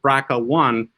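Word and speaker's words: BRCA1: breast cancer gene is called braca one and it's spelled drca one and uh the interesting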